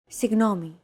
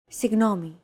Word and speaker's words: Συγγνώμη: Συγγνώμη. This word is often romanized like this. Συγγνώμη. This character isn't pronounced using an English G sound at all.